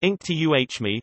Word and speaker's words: Inktomi: for 241 million dollars the company's name pronounced Inc tuh me was derived from a